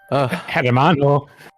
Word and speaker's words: hermano: Diego Els Naranja oh Hermano really yeaho hermano hermano you don't pronounce the h in that one yeah that's why so it's been that long, huh?